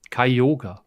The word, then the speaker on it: Kyogre: it's pronounced all right kai yoga yeah kyogre that it that it is that it is based on the japanese pronunciation of the name which is kai kayoga that's how it's spoken in japanese that's a that's a